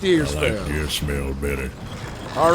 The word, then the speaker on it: Deersfeld: It's Deersfeld, F-E-L-D. Deersfeld. Deersfeld. I like Deersfeld.